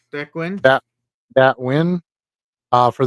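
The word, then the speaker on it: Nguyen: This is a 2023 prism, black and white checkerboard prism of Dat Nin or Ninw, how do you pronounce his name? Dwin. Dwin.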